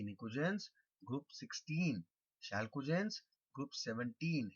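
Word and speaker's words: pnictogens: Group 3 elements are called nicogens. P is silent.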